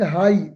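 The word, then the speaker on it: high: The birds are flying हाई एच आई जे एच हाई एच आई जे एच हाई तो जे यहां पे silent है और एच की हल्की साउंड है हाई इन द स्काई परिंदे आसमान में ऊपर उड़ रहे हैं।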